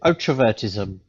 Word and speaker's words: Otrovertism: How do you pronounce it? Otrovertism.